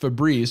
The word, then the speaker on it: Febreze: Febreze doesn't have the double E. But it's still pronounced Febreze.